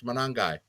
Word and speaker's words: Monangai: She said, don't mess it up, Drew. It's Monangai.